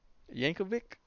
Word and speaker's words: Yankovic: bye uh Weird Al Yankovic Yankovic I think I don't think you pronounce it as a CH uh okay Marcus he